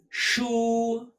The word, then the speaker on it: 书: Shu. Like shang, the first sound.